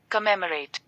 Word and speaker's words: commemorate: कमेमोरेट, कमेमोरेट, ठीक है, कमेमोरेट, ठीक है, ऐसे प्रोनाउंसिएशन करना है। तो ये आपको याद रखना है, कमेमोरेट, ठीक है, कमेमोरेट इसका प्रोनाउंसिएशन है।